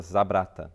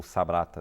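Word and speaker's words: Sabratha: A prisão aconteceu numa cidade pequena, perto de Trípoli, chamada Zabrata, ou Sabrata, depende da pronúncia.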